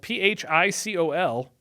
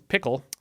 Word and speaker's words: Phicol: At that time, Abimelech and Phicol, it's spelled P-H-I-C-O-L, so I don't think it's pickle. I think that's Phicol.